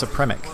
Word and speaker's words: Supremic: Nice, Supremic. Well, because it reminds me of like Supreme, like the same meter that you would pronounce Supreme, but it's with a sa instead of a saw instead of a sa.